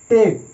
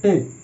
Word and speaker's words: take: যেমন নোটেও silent, টেকেও silent.